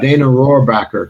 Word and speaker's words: Rohrabacher: from California a Republican congressman from California actually dana rohrabacher okay his name was and he's a he